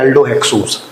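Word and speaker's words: aldohexose: एल्डो मतलब aldehyde, hex का मतलब 6 कार्बन, और इसको प्रोनाउंस करते हैं एल्डो हेक्सोस।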